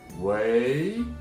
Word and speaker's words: 喂: phone and you're saying hello, hi, please say 喂 in Chinese. 喂, 喂. And every time you practice the pronunciation in Chinese, please be careful about your